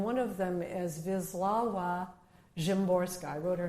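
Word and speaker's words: Szymborska: poets, uh, and one of them is Vizlawa Jimorska.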